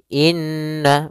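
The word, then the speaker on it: إنّ: Pada bacaan inna di sini ada huruf nun yang berharakat tasydid. Maka cara membacanya itu kita menahan suara nunnya. Suara nunnya kita tahan dulu baru dibaca. Jangan langsung innalladzi tapi tahan dulu dua ketukan.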